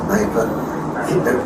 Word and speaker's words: Kneipe: a small pub a Kneipe. They use a lot of K-N words. Okay, how do you say it? K-N-E-I-P-E. Okay. Kneipe. So it's really a Kneipe.